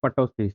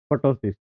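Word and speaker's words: ptosis: एमसीक्यू बन रहा है आपका, एमसीक्यू बन रहा है, पहला एमसीक्यू तो ये बन गया, मीनिंग ऑफ पटोसिस। टॉसिस भी इसको कहीं बोलते हैं, पी साइलेंट रहता है, ठीक है।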